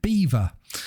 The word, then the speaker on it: Belvoir: And because he's from Lincolnshire, he knew of an area called Belvoir, but the locals call it Beaver. So he thought, because he likes the ladies, he would create a name of Chase Beaver. But it's spelt Belvoir, as in Belvoir. So, you know, it's lost on those puny Americans.